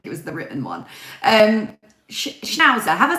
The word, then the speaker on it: schnauzer: Schnauzer, have I said it right?